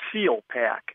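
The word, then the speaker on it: Salpak: gear and they make an item called a seal pack and it's spelled s a l p a k and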